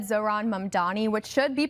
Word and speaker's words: Zohran Mamdani: Babbel said Zohran Mamdani, which should be pronounced again, Zohran Mamdani, was most commonly mispronounced when people swapped the M and N in his last name.